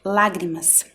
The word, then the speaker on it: lágrimas: Olha a palavra lágrimas. Temos época, árvore, lágrimas. Também são palavras em que a sílaba tônica é a antepenúltima, ou seja, são proparoxítonas.